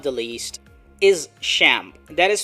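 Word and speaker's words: XAMPP: Photoshop and last but not the least is shamp that is spelled as X mppp and this is a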